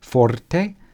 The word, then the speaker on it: forte: are right here Forte use the proper tallien pronunciation with that roll our Forte and piano okay so